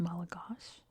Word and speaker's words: Malagasy: So everything, including like the word Malagasy, is pronounced Malagash.